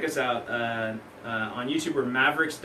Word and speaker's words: Maveriqs: out on YouTube for Mavericks II know and it's spelled ma vie er IQs but at the end